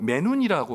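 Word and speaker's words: μενοῦν: 오히려 오히려는 헬라어로 매눈이라고 발음합니다.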